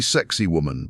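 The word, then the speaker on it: Sacsayhuamán: Saxahire man pronounced roughly sexy woman by tourists.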